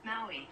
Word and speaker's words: Maui: Maui. Maui. That's how I pronounced it.